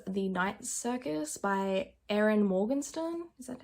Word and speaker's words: Morgenstern: Another book I got around to reading was The Night Circus by Erin Morgenstern.